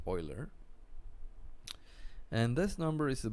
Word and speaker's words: Euler: It is pronounced Euler.